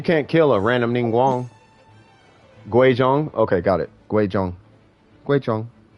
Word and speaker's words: Guizhong: This is how you pronounce it, I think. Guizhang. Yeah, no, it's Guizhong.